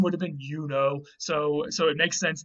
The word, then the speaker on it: Juno: more or less um we think that this comes from the goddess juno and her name would have been yuno again they didn't have a j her name would have been yuno so so it makes